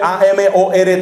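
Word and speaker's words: Amorth: padre fortea son bendiciones usted dice amor se escribe a m o r t h amor dice amor qué es lo que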